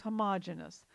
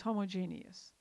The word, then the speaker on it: homogeneous: Homogeneous mixture, sometimes called homogeneous, but I believe the more common pronunciation is homogeneous.